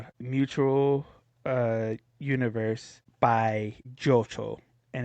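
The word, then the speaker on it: Jyocho: Yeah, Jo.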